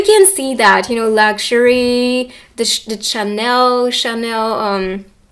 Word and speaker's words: Chanel: You can see that, luxury, the Chanel. It's so weird to say it with the English pronunciation. Chanel in French.